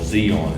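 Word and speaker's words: Di An: And then we flew, transferred over to this little place called Zion, and it's spelled D-I-A-N, which is kind of odd to me. Zion would be a Z. The Vietnamese language, I guess.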